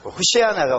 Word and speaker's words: 호산나: 호산나는 또 히브리어입니다. 호시아나가 원래 발음인데, 그것도 주 예수여 어서 오소서, 주여 어서, 아니죠?